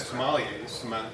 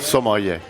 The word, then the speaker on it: sommelier: But wines come up with and you have sommeliers. How do you say it? Sommelier.